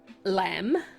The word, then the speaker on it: Lam: The chant for the root chakra is spelt lamb, Lam, but it is chanted, like all of these actually, are chanted with the H in it. So that lam, more than that lamb, if you get my meaning.